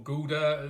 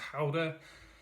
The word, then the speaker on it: Gouda: as I my dutch boss tells me it's pronounced it's a or Gouda as some people have pronounced it apparently it's pronounced holder and this is actually the XO reserve I